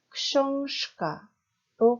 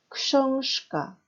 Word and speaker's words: książka: 그러니까 유성음 가 뒤에 크 때문에 무성음으로 바뀝니다. 이때 유성음 의 짝인 무성음이 어떤 발음인지를 알고 계셔야 됩니다. 즉 앞에서 발음 연습했던 무성음과 유성음의 짝을 잘 알아두셔야 됩니다. 유성음 의 무성음은 뭘까요? 바로 슈죠. 그래서 어떻게 발음이 되냐면 książka로 발음이 됩니다.